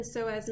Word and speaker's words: psoas: Psoas major, remember, is spelled with a silent P, S-O-A-S. So the iliosus does have a silent P in it, I-L-I-O-P-S-O-A-S. From the iliosus, you next can find your femoral nerve.